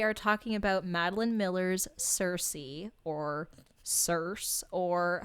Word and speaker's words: Circe: Sorry, I was just laughing because I was remembering Kirke. Nikki had mentioned that sometimes it's pronounced with the hard K, hard C, and I just tried it and it felt so fun.